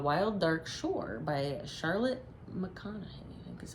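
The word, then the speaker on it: McConaghy: Uh, Wild Dark Shore by Charlotte McConn is how you say her last name.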